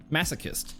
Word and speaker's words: masochist: I I can never pronounce that word right cuz it's pronounced differently than how it's written. masochist. Masochist, that's how you say it.